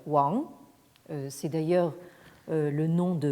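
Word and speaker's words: 王: C'est un caractère qui se prononce comment dire, dans la prononciation moderne Wang.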